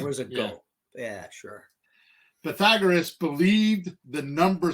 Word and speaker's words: Pythagoras: The Greek philosopher and Greek mathematician, Pythagoras, I said it wrong. Okay, I'm going to go with Pythagoras. Pythagoras. It's not Pythagoras. Pythagoras. Pythagoras.